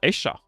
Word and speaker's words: ella: So for example, ella, which means her, is gonna be pronounced esha, and I'm like, damn, that's fucked up.